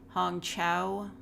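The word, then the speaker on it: Hong Chau: wakanda forever okay I've heard of that one Hong Chow that's how you pronounce that Carrie Condon Jamie Lee Jamie Lee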